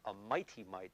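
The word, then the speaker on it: Miti-Mite: So anyways, this is a Lufkin, and it's a Mighty Mite, but it's spelled M-I-T-I hyphen M-I-T-E. So it's a strange spelling.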